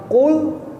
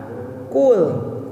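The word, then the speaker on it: قل: Kalau qaf itu dalam mulut Bapak tuh penuh. Qaf. Beda dengan kaf. Makanya qul dengan kul. Ya. Qul. Makanya qul. Jadi si dalam mulut itu penuh. Kenapa penuh? Karena pengucapannya mulut itu terbuka karena posisi mengucapkannya dari dalam. Qul. Gitu ya. Bukan kul.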